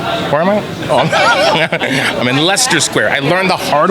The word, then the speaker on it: Leicester: now I'm in where am I I'm in Lester Square I learned the hard way how to